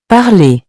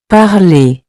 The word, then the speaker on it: parler: At the end of these verbs, ER sounds like A.